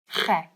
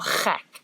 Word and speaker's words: gek: They are gek. And gek is also a bit of a gek word to know, because it's like the ch sound and the ek, which means me.